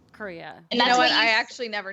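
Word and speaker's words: Corea: gosh uh Alexa Ray Korea everybody me I mispronounced her last name so wrong for so long it's like the country Korea you know I actually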